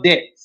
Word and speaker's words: debt: The B is silent.